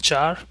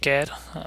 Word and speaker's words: char: store in character as called char or care however you want to pronounce it a float has a